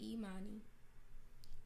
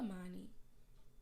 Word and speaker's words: Imani: because here's my thing when I introduce myself I say Imani but for some reason people like to say uh money because that's also how